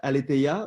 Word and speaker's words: Aletheia: In French, you would pronounce it aletheia, but I don't know if you can anglicize it.